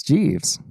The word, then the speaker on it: Jeeves: he clarified the pronunciation of his name. And it's Jeeves. Yeah. Ask Jeeves.